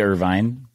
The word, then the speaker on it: Irvine: smash and we have Irvine Irvin Irvine Irvin Irvin why do they put a e on there why do they put